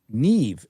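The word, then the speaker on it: Niamh: The first name is pronounced neve. It's an Irish name.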